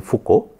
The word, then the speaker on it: Foucault: So, that was first done by a French scientist named Léon Foucault. Do not go by the spelling, the actual pronunciation will be Foucault, and that was first demonstrated in 1951.